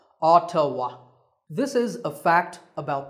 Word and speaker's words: Ottawa: Yes, it's pronounced Ottawa. Ottawa.